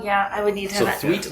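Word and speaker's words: Thweatt: I would need to twet like tweet yes exactly so so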